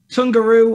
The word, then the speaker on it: Tungaru: love to so uh sungaru or tungaru as i call it i'm british so oh pronounce yeah